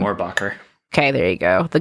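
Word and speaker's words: Mohrbacher: And like you said, the first artist rendering of him was by Peter, I can't pronounce his last name. Morbacher.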